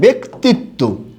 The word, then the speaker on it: ব্যক্তিত্ব: ব্যতীত এরকম হবে উচ্চারণটা আবার একটা শব্দ আছে ব্যক্তিত্ব কি আছে বলুন তো ব্যক্তিত্ব এই যে ব্যক্তিত্ব শব্দটা যে আছে এক্ষেত্রেও কিন্তু উচ্চারণটা বয় একার হবে ব্যক্তিত্ব আশা করি জ ফলাজনিত আপনাদের যত উচ্চারণে প্রবলেম